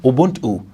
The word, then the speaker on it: Ubuntu: Ubuntu, or in Zulu pronunciation, Ubuntu, is a Nguni Bantu term meaning humanity.